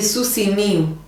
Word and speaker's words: Susi Miu: Alors que je vous dise pas de bêtises parce que chaque fois je le prononce mal. C'est Susi Miu. S-I.